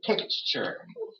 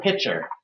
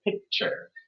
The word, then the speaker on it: picture: That is something that people commonly mispronounce, but that word is actually picture. It's not pitcher. It's picture. Picture.